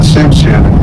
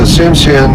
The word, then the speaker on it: Tsimshian: And then the Tsimshian, they live right over here on Annette Island.